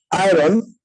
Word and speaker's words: iron: একটু খেয়াল রাখতে হবে, ইটস নট আয়রন, আরটা উচ্চারণ করব না, আয়রন Iron. আয়রন। Iron. আরটা কি Iron. আপনি সাইলেন্ট রাখছেন? এই যে আরটা থাকবে এটা একটু সাইলেন্ট রাখতে হবে, রাইট? জি ম্যাম, জি ম্যাম।